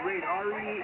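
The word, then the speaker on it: Reydon: Yeah, Raiden. R-E-Y-D-O-N. Raiden. Look it up. In other words, he does not know. Spell that one more time, Larry.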